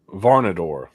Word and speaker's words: Varnadore: Varnador.